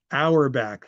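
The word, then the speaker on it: Auerbach: Um hour back. Thank you. It's, you know, it is pronounced hourback like you set your clocks an hour back in the fall.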